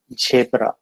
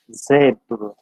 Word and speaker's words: zebra: generally we find the people tend to pronounce it as jabra but it is not shaped rather it is zebra so these are the